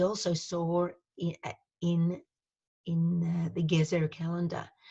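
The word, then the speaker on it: Gezer: saw in in the gears era calendar the word gears era might ring a bell to some of you it sounds like the word the common word in Hebrew for carrots but it is actually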